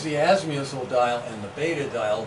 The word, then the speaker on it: beta: And then here's the azimuthal dial and the beta dial. The beta rhymes with theta, the alpha is the azimuth.